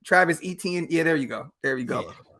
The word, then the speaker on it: Travis Etienne: Yeah, Travis Etienne. Yeah, I forgot how to say his name. Travis Etienne.